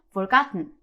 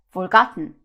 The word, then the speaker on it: forgotten: 이런 발음인 거예요 오케이 그래서 repeat after me forgotten forgotten 잘하셨습니다 그래서요 강세 그다음에 발음을 꼭 유의해 주세요 자 오늘의 패턴은 be